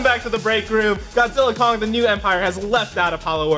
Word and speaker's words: Godzilla x Kong: The New Empire: director, Adam Wingard, said the official out loud pronunciation is Godzilla Kong, the New Empire.